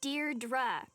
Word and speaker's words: Deirdre: Deirdre. I know it's got that tricky second syllable, but I figured it out by age 2.